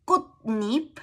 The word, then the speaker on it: 꽃잎: In the compound nouns, if the second word starts with yi, ya, yo, yo, yu, that y glide, these are pronounced as ni, nya, nyo, nyo, nyo. It's just a pronunciation rule. So it becomes kutnip.